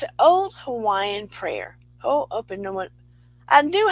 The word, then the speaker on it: Ho'oponopono: Ho'oponoponono. I think that's how you say it. And it's an old Hawaiian prayer. Ho'oponopono.